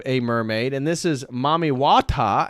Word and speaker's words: Mami Wata: Again, here's another variation of a mermaid, and this is Mami Wata, as I said. Mammy Water as another pronunciation, Mami Wata, or La Sirene.